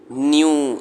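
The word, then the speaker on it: knew: Drew, crew, Bru, cashew, flu, blue, Neiphiu, न्यू, stew, न्यू। अच्छा, के एन में के साइलेंट है आप, ठीक है।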